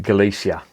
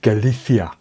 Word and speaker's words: Galicia: from galicia and he's because i call it galicia and he says no no galifia that's how they pronounce it i'm not knocking them but that's